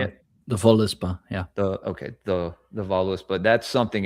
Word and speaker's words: Völuspá: The Voluspa, yeah.